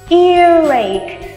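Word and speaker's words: earache: gọi là ear rake ear rake đá lẽ phải đọc là ear ache Nhưng nếu đọc như vậy thì dở quá tụi mình nối luôn âm r qua bên kia vậy cô sẽ đọc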